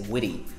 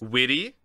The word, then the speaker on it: witty: be so witty witty again they're pronouncing the t is like a d for example in the american accent they might say witty oh he's pretty witty in british witty witty british english would say